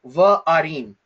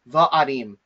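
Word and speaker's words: וְעָרִים: So the conjunction here is the vav with the vocal schwa underneath it. And so the way that we pronounce this word is va'arim, va'arim, okay?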